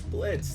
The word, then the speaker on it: Blitzø: of of hot right my name is Blitz the O is silent what can't I do